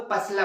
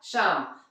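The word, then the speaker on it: psalm: जैसे मैंने आपको पहला एग्जांपल दिखाया था, याद होगा आपको, पसलम। वो पसलम था क्या? नहीं, वो क्या था? शाम।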